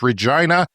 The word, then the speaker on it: Regina: he was confused because it rhymes with a vagina it's Regina it is Latin for